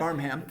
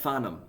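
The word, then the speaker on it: Farnham: listening to John faram as a kid right fham no faram it's spelled fham it's it's pronounced faram faram fom and if you want to be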